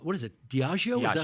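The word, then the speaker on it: Diageo: Diagio. Is that how you pronounce it?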